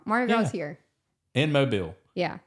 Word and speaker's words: Mobile: about Marty girl Mar girl is here in Mobile yeah it's where it started yall can try